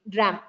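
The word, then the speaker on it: drachm: to 1 gram so CH is silent here it's pronounced as Dr dram okay 480 grains is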